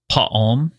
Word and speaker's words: Pa'alm: In the same way that everyone else's name is broken up into like 2 syllables, it's kind of that same idea where it's like first part of the name, second part of the name.